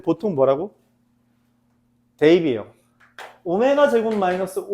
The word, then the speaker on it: 오메가: 우리가 W라고 읽지 않고요. 지금부터는 허근을 오메가라고 읽습니다.